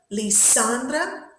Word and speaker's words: Lisandra: Do we say Lisandra, Lisandra, or Lisandra? We say Lisandra, so the stress is in the middle.